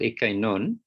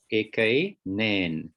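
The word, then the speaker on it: ἐκείνην: Let me just, the first one is not eke non. Just say it, look at it carefully and read it again. Eke nen. Oh, eke nan. Okay. It's feminine. It's not eke non, not masculine.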